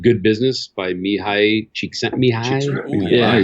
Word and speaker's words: Csikszentmihalyi: There's another one called Good Business by Mihai Csikszentmihalyi.